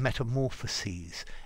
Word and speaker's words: metamorphoses: have you transgood and the ses in metamorphoses is pronounced sees like the word sees and sees he sees